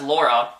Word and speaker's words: Laura: So Laura is Laura in Spanish, the Spanish pronunciation of Laura. So a lotta, Laura. A lotta, Laura. A lotta, Laura. See, they're super close.